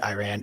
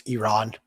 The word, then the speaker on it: Iran: So I'm going to smooth braid this for a second because my ears cringe when you say Iran. It's Iran. As an Iranian, I invite you to pronounce it the way that Iranians do.